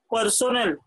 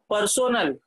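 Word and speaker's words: personnel: देखो दिया है, every field mention here requires expert पर्सोनल with specialised skill. पर्सोनल, यहाँ पे पर्सनल नहीं है, स्पेलिंग में फर्क है।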